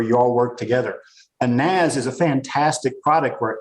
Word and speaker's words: NAS: all work together, a NAS is a fantastic product where everybody can connect to it. It's pronounced Nas.